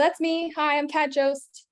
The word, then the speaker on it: Jost: Hi, I'm Kat Jost. Last name rhymes with toast.